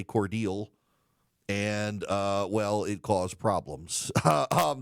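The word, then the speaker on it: Cordele: So she went to what in Illinois is Coeur d'Alene and said Coeur d'Alene, but in Georgia we say Cordial.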